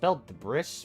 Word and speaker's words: debris: Why is debris spelled with an S? That's spelled debris, but it's debris.